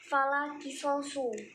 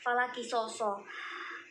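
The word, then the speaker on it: فلا قصاص: Lalu yang salah berikutnya itu adalah Bapak itu membacanya falakisosu. Nah, yang benar itu adalah falakisoso. So-nya itu dibaca nasab atau fathah karena yaitu kemasukan lali nafsil jinsi, seperti itu.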